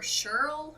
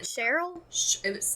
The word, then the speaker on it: Shirl: okay his parents were shirl i think that's how you pronounce it cheryl it's a man's name cheryl s h i r l i've heard it